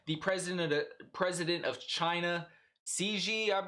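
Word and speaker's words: Xi: So, this news agency had a different spin on the call, noting that the president, president of China, Ci is how you say his name.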